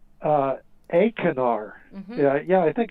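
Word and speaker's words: Achernar: star it's called uh a canar yeah yeah i think i pronounced long a acanar it means into the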